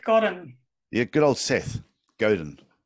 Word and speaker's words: Godin: Godin, sorry. God, really? Well, so you got me to introduce the book and I got his name wrong. Oh, it could be Godin, but I think it's Godin. Godin, okay, Godin. Yeah.